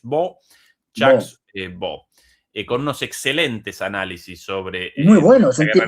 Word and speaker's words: Baud: Sí, es escrito Baud, pero pronunciado aparentemente en francés B. B con unos excelentes análisis